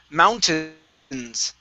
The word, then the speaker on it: mountains: This word here is pronounced mountains. Okay, so we have an ow and an tins here. Okay, short I sound.